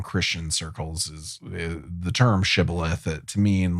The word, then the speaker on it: Shibboleth: Shibboleth. But likely because there was some sort of difference in dialect between the two tribes. They could only say Sibboleth. Yeah. They couldn't pronounce it right.